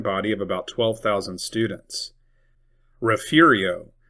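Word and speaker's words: Refugio: Rafiio, it is not Refugeio or Refugeio.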